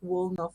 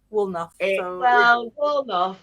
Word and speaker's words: Woolnough: Posh but yeah but I had had to also like ask you how to pronounce it properly because I thought it was like well enough or something but it's well enough it's my maiden name